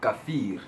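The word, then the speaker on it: كافر: from the Muslim people which they say Coffield that's how they pronounce it it Scofield they pronounce it like that and the word actually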